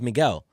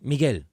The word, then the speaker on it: Miguel: Like my legal name's Miguel, so like it's Miguel. It's supposed to be Miguel, but I'm like it's Miguel.